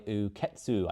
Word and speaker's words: Uketsu: Strange Pictures by Uketsu, I think that's how it's pronounced.